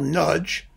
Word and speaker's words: Nagy: the marvelous baritone michael nudge um you know it's hungarian nagy nudge is how that's pronounced michael nudge baritone with